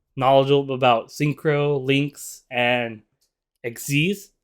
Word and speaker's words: Xyz: about synchro links and xc's i do know this pronounced xc's not xyz but anyways you guys